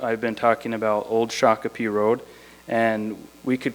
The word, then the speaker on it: Shakopee: or Sak pedon and Americans came to call them phonetically Shakopee so this uh the community the place became known as the city of Shakopee so a place name named after a person so you can see that an indigenous name has been changed the intention of it isn't really correct phonetically it's not quite correct but this is a